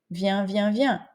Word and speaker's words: viens: tu viens il vient même prononciation viens viens ok comme chien mais attention au pluriel c'est